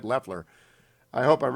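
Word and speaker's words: Loeffler: sick of hearing about lefleur and i'll eventually pronounce it right i think it's left like a left-handed leftler i hope i'm right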